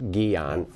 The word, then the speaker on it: Guillain: There's some, I've heard that the incidence of Guillain-Barré, which is also called, I mean, it's spelled Guillain, it's pronounced Guillain, French polio, and it's a paralysis that ascends, and in most cases, it goes away.